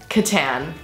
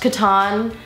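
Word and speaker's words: Catan: the board game lately Katan it might actually be pronounced Katan but we like to say Katan I don't really care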